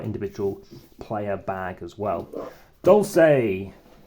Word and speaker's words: Dulce: player bag as well Dolce make sure you pronounce it that way okay well thanks for